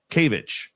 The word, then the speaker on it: Czeszkiewicz: Once you got the first part, so CZ is always ch, the ch sound. And then the SZ is always like a ch type sound. And then the KIW, CIW, or CISW is pronounced Kavich. So I know that from when I worked in sports radio, there are a couple athletes that had the Kavich in their last name.